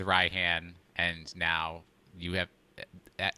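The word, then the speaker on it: Raihan: aggravated me that they completely validated steve's pronunciation of ryhan i'm like y'all could have said ryan but no no you you went with ryhan and now you have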